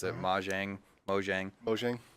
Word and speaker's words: Mojang: for developing minecraft he oversaw I can never pronounce it ma Jiang Mojang Beauchesne Mojang the Swedish game company that developed minecraft they